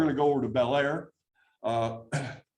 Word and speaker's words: Bel Air: to go over to Bel Air uh they pronounce it Blair up there by the way and uh this is